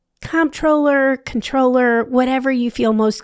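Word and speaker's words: comptroller: It's controller. So it is it's silent. So it is silent.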